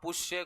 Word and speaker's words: पुष्य: है नक्षत्र होता है आप पुष्य को पुख बोलते वेदों में श को ख बोला जाता है वेद होते है